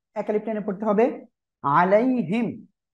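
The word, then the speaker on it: عَلَيْهِمْ: আলাইহিম, এই যে ইয়া সাকিন ডাইনে ডাবল লিনের হরফ, নরম করে তাড়াতাড়ি পড়তে হবে।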